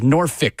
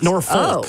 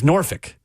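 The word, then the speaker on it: Norfolk: James Madison it is Nori State not norol there is no l it is noric is how you say it really yeah so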